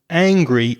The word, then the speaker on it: angry: Angry is the a sound, the same sound as in the word cat or hat or that.